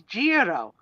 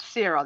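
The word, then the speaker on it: Ciro: but here's it Sero in Italian is Jiro not cero they pronounce a c like a j no and when he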